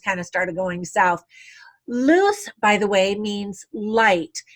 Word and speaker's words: Luce: of started going south loose by the way means light in Italian it's Luce and in Spanish it's loose but spelled Lu Zhi either way loose the character had said